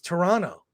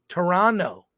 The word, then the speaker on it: Toronto: the correct pronunciation is the second T is silent it's Toronto Toronto whenever I hear people